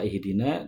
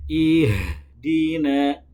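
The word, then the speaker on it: اهدنا: Jadi harus diketahui cara membaca lafadz ihdina, itu dialirkan suara dan juga udaranya, bukan dipantulkan dan diseret-seret. Jadi bacaan yang benar adalah ihdina, bukan ihdina.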